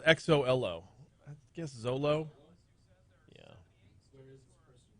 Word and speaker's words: Xolo: Guy's name is spelled Xolo. I guess Zolo.